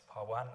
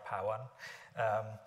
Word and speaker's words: Pawan: It depends on how you pronounce it, whether in British accent or in American accent, it's Pawan or Pawan.